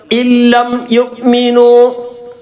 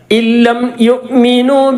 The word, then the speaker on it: إن لم يؤمنوا: ഇല്ലം യുഅ്മിനു ലാമും റാവും ഇദ്ഗാം ബിലാവുന്നയുടെ അക്ഷരമാണ്. നേരെ നൂനിൽ ലാമിലേക്ക് കൂട്ടി യോജിപ്പിച്ച് ശബ്ദ കൊടുക്കുക. ലാമിന് ശബ്ദ കൊടുക്കുക. നൂൻ ഉച്ചാരണത്തിൽ വരുന്നില്ല. ഇല്ലം യുഅ്മിനു ബിഹാദൽ ഹദീസി അസഫാ ബിഹാദൽ ഹദീസി ഇങ്ങനെയുള്ള ഈ സ്ഥലങ്ങളിലൊക്കെ ഈ ഹാദ എന്നുള്ളതാണ് അല്ലേ.